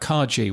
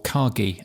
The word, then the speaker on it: Kagi: the good thing about Kaji which is or kagi I believe it's now pronounced which is the um